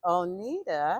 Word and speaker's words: O'Neida: Manor and guess what onita am I saying it correctly yes you are is a graduate and